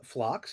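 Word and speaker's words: Phlox: Uh flocks is a flower, famous flower. So it's pretty basic.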